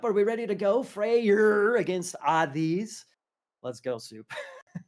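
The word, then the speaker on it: Freyr: call it heimall so I'm pronouncing the freyer especially to distinguish from Freya so we got fre and freyer I'm going for the hard R all all variety then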